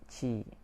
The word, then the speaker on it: ki: The ki pronounced chi, received at birth.